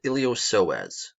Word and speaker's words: iliopsoas: there's the muscle called iliopsoas right the P is silent so why is it